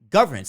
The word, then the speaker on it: governance: Like what exactly is governance? Is that just governments and like? No, governance. Governance. Like, governance. I'm trying to emphasize the second syllable.